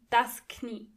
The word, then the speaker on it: Knie: And in German, you have to pronounce the K. Das Knie. Knees are die Knie.